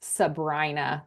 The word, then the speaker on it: Sabrina: It's Lake Sabrina. And actually, that's wrong. It's Sabrina, but it's spelled Sabrina.